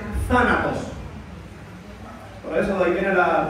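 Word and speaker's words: θάνατος: poner en en español la pronunciación es una es como una z española, por eso se dice zanatos.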